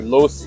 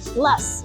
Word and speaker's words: Loess: After that, we headed up to Loess Hills. No, Less. Loess Hills. It rhymes with bus.